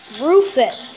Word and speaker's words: Rufus: Well, there's one commander that's name is Rufus. It rhymes with Doofus.